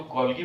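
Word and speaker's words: Golgi: तो गोल्गी body is वन of them.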